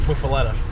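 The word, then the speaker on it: Muffuletta: It's Muffaletta.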